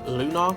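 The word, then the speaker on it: Lonar: and I think we're going with the name lunar now not be confused with Rob's dog's name Luna but more spelled like um up here l o n a r Luna so we focus lot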